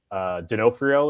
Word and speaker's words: D'Onofrio: But the only reason I am interested in the Fan Expo is because I think D'Onofrio is going to be there. That's how you pronounce his last name.